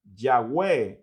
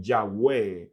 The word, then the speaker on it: Yahweh: y no Yahvé, pero los estudiosos del hebreo afirman que es un error transliterar o traducir o pronunciar, mejor dicho, la tercera consonante del tetragramatrón, que es la letra Vav. En hebreo, la tercera consonante es Vav, y la mejor pronunciación sería más cercana a como suena nuestra V y no como la W inglesa, que suena más como U.